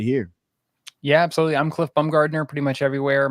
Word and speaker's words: Bumgardner: I'm Cliff Bumgardner pretty much everywhere. My name is spelled just like it sounds, and there's only one of them, so I'm pretty easy to find.